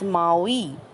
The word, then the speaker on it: Maui: First word Maui, pronounced as Maui.